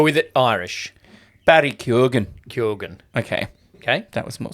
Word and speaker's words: Keoghan: Okay, in a Q&A with Geek Island, the actor explained that his surname is pronounced Keoghan. Barry Keoghan. Like Kogan, Oscar the brand nominee of TV.